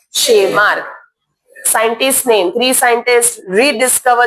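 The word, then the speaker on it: Tschermak: एंड द वॉन शेमार्क T silent है क्या है वॉन शेमार्क scientist name three scientist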